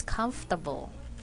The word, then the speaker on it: comfortable: people pronounce this as come for to ball in spelling that is correct but we only have three syllables in this word when we pronounce this it's comfortable okay let me use